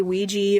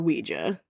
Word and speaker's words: Ouija: So most people think it's that and um you can say Ouija or Ouija. So, it's you can pronounce it either way.